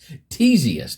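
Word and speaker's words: Ctesias: what I put there that's to help me pronounce this teius that's how you would pronounce that um who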